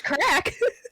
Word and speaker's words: craic: And I'm like, wait, it's crack. How does she say it actually? Translate. She says crack. Or does she?